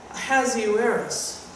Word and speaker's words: Ahasuerus: They tell you to pronounce this roughly. Ahasuerus.